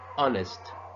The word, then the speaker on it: honest: Same as an honest, the H is silent.